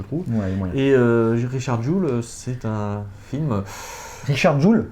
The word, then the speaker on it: Jewell: Non, Mais- c'est la même prononciation que en fait bijou en anglais, c'est Jewel.